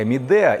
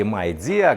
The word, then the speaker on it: Midea: Давненько что-то у нас в обзорах не появлялась техника Midea или Midea, как вообще-то это произносится. Но у нас вот так уже прижилось Midea, а некоторые называют ее Midea.